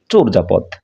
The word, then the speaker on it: চর্যাপদ: আমরা শব্দটি দেখতে পাচ্ছি এটিকে আমরা সবাই জানি এটিকে বলি চর্যাপদ কিন্তু এর উচ্চারণ কিন্তু চরজাপদ আমরা দেখতে পাচ্ছি যে অন্তজ বর্গীয় জয়ে পরিণত হয়েছে উচ্চারণের সময় চোর যাপদ এটিকে আমরা বলে থাকি